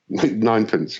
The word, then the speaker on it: Ninepence: your current band, and it's Ninepence, I think is the correct pronunciation. Is that right? Ninepence, yeah.